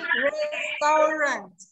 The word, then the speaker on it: restaurant: Oke, sama pengucapannya restaurant. Jadi ada letupan T ya.